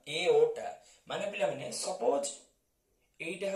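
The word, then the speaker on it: aorta: पिला माने एठी आर टी साइलेंट रहइबो आको हमें प्रोनाउंस करिबा एओटा माने पिला माने सपोज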